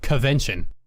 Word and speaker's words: Covention: Covention, which I see everyone writing out as convention, when that's not how it's spelled, it's Covention. Yeah, like covens. That's the joke.